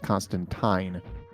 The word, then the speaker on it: Constantine: so funny thing is there is a panel in one of the hellblazer comics where Constantine actually points out that his name is pronounced Constantine M and that's the British version got it in theory